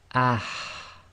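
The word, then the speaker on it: ح: of the throat, and we have the forceful ha. So you'll pronounce this with sukoon as ah, and you'll feel a lot of air should come out the front of your mouth.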